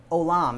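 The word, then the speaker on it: עולם: that particular verse um uh olam is is the way that you would pronounce that hebrew word um and you can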